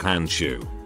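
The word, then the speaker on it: Handschuh: german word for glove is hansha which is pronounced like hanshu makes sense to me at one point i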